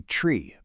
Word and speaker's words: three: Pilots and air traffic controllers say tree. But why? Well, that soft thus sound can easily get garbled or just completely lost over a bad radio signal. But tree, that hard T sound, just cuts right through all the noise loud and clear.